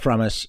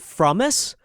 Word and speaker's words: Frumess: you okay so yeah my name is promise and I that's how you say it from us yeah yeah yeah yeah I I don't I